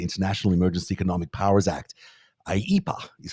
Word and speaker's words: IEEPA: IEPA is how you say that, I guess.